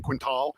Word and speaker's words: Quintal: So Quintal. I figured you say it like L, like it's an L, but it's AL. So he's saying Quintal. I've always said It's Quintal. Quintal.